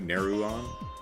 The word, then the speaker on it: Neruan: So hitting the accent on the U, Neruan?